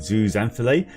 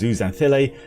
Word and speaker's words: zooxanthellae: I always pronounce it zooxanthellae, but it is zooxanthellae, which are little algal cells living within the coral bodies.